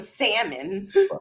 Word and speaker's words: salmon: Because I didn't pronounce the L in salmon.